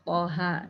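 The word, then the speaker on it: طه: Berikutnya pada ayat pertama surah Toha ya, ada huruf to dan ha. Nah, bagaimana cara membacanya? To dibaca 2 harokat dan ha dibaca 2 harokat tanpa imbuhan hamzah.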